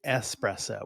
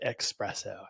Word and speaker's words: espresso: coffee isn't your thing the word is actually espresso with an S there's no X in it but it's one of those things that's mispronounced all the time and they just they